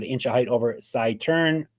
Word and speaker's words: Saeteurn: It's not Saeteurn. Saeteurn. Let's break it down. Saeteurn. Wrong turn, Saeteurn.